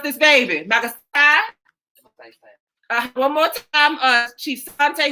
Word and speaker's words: Magsaysay: Magasai? One more time, Chief Sante, who is from the Philippines. I'm getting it straight from the islands. How you say that? Magsaysay. Magsaysay.